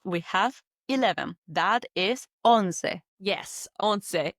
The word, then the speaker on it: once: That is on. Yes, on. It's written the same as the English word once. O N C E. Like once upon a time, but you pronounce it like on.